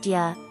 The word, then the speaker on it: Dire: Dire, pronounced Dia, means Hisen Na or Osoroshi. Note, Yana has retconned the word dire so that it is pronounced Dia, making it very similar to the word Diablo, which is the name